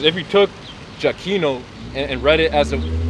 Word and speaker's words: Giacchino: So it says if you took Giacchino and read it as if it were a classical Latin word, the pronunciation would be completely different from the modern Italian one.